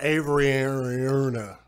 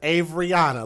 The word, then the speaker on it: Averyauna: He said Avery Ayuna. He can't even pronounce her name right, and I don't blame him. He said, "Listen to it again, Avery Ayuna." Officers arrested Tyler Anderson, the girl's biological father, the next day in Sacramento. Her name is Averyana. Listen to how he pronounces this. Listen again. Reno officers arrested Avery Ayuna